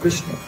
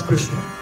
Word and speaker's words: Krishna: You know, Krishna is very difficult to say. Krishna say a ka, and then a ra. And then a shh. So if you're very emotional, it's hard to pronounce Krishna.